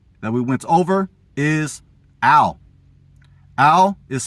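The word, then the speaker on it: אל: The first word family for no that we went over is al. Al is spelled alf lammed which is the same spelling for the word god alf lammed.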